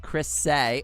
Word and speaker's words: Chris A: With me and the Boy Sana vocal synth Chris A, pronounced Chris Say.